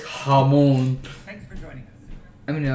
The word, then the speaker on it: jamón: Anyway, and he says jamón. Thanks for joining us. I mean, no, he is wrong though. That's how you pronounce it.